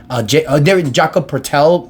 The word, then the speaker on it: Jakob Poeltl: Quickley, Jakob Poeltl, I believe that's how you pronounce his name, Jakob Poeltl, yeah, but the number 9 pick in the 2025 draft.